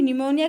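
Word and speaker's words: pneumonia: ध्यान रखने वाली बात यह है कि निमोनिया का भी एन से शुरू नहीं होता, इसमें पी साइलेंट होता है, इसलिए हम पी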